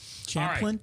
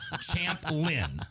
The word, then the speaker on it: Champlin: didn't I that's okay Champlin oh I did say it right okay chaplain chaplain no no champ camp like I'm a boxing champion you never will be champ Lynn okay uh in your mind